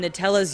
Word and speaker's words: Nutella: But there has clearly been some major controversy in how to pronounce Nutella. On Nutella's US frequently asked question page, it's pronounced Nutella.